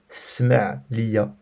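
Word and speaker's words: سمع: Attention par contre à la prononciation. Il y a deux verbes qui se ressemblent. Donc écoute-moi, c'est le verbe entendre et pardonner. Écoute-moi, on l'a vu, c'est sma'. Sma' liya. Par contre, excuse-moi, smah liya.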